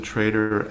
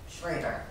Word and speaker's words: Schroeder: the name is pronounced Schrader okay it's spelled like Schroeder but it's pronounced Schrader okay okay and she's